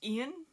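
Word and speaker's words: Iain: Next book on the list is We Spread by I want to say it's pronounced Ian.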